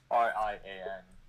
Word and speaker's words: Rian: pronounces Ryan Johnson because it's not spelled like Ryan. It's spelled like. It's spelled like Ryan. It isn't. It's not like M&R Productions Ryan. It's like. Rian.